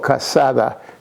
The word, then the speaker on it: cassata: The Sicilian cake is called cassata. Cassata, that's how you pronounce it.